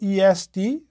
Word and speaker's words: est: One of them is the third person singular of the verb to be, in which case this word is pronounced just E, or it can be the word for east, in which case it's pronounced as est.